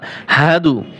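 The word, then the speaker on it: أشهد: এরপরে কালেমায় শাহাদাত, আশহাদু আল্লা ইলাহা, আশহাদু, এই দেখেন এই যে হা, হা জবর হা, অনেকেই পড়ে আশহাদু, সাধু না, হাদু, আশহাদু, আশহাদু, হা, হা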